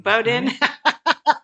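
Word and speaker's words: Bowdoin: Yeah, they pronounce it Bowden. Bowden.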